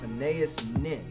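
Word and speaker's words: Anaïs Nin: So, late diarist, novelist, essayist, and short story and erotica writer, I think her name is pronounced Anais Nin.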